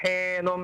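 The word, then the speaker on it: حين: Hal ata 'alal insani hinum minad dahr. Lagi. Hinum, nah itu tasdid.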